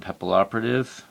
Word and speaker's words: Papilloperative: 1 Photon Papilloperative. A lot of people say Butterfly Assassin because they can't pronounce the name, but it's Papilloperative, or at least I'm pretty sure.